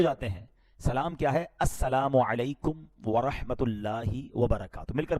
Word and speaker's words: السلام علیکم: ہاں سلام کی تلفظ ہی ٹھیک نہیں ہے. السلام علیکم, السلام علیکم, یہ سلام نہیں ہے بلکہ بعض اوقات تو اس کے میننگ ہی آؤٹ ہو جاتے ہیں. سلام کیا ہے؟ السلام علیکم ورحمۃ اللہ وبرکاتہ.